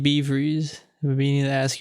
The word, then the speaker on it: BVreeze: So, I went through some variations of that, and I eventually ended up with uh BeeFreeze, which is like uh the Dutch word for freeze, or the a possible translation is bevriezen, Mhm.